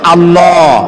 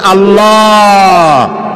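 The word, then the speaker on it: الله: আল্লাহর নাম আল্লাহ বলেন তো আল্লাহ নয় কিন্তু আল্লাহ হচ্ছে অশুদ্ধ শুদ্ধ হচ্ছে আল্লাহ বলার সময় মুখটা গোল হয়ে যাবে বলেন তো সবাই উচ্চারণ করেন আল্লাহ আবার বলেন আল্লাহ আবার বলেন আল্লাহ সুবহানাল্লাহ কি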